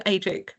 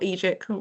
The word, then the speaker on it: AEGIQ: slightly strange company name, so it's spelled AEGIQ. So feel free to come to AGIC or EGIC, we all pronounce it differently as well, .com, and check us out.